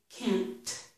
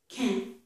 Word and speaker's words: can't: You don't hear me saying, you don't hear me completing this T. I don't say can't, can't. And I also don't make a full N. I don't say can't, can't. It's can't, can't. The tongue stops it there, okay?